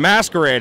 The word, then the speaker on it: Masquerade: you doing i'm great am i saying it right mask r8 masquerade yes that's exactly how you say it with the aid at the end yes and um i